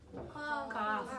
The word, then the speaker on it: cough: And this one is really now today cough, right?